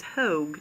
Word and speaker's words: Hogue: Florida, whose last name is Hogue, not Hogg, as I incorrectly pronounced in one of my videos earlier today.